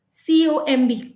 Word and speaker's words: comb: Then comb, COMB, comb. We don't say comb, we say comb.